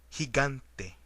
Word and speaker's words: gigante: Like an example of the word go, except when it precedes an I or E. In those cases, it is pronounced like the Spanish J. Examples: gordo, gritar, gigante.